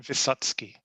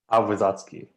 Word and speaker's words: Wysocki: The letter C in Polish is pronounced like TS, so that makes it Wysocki. Wysocki.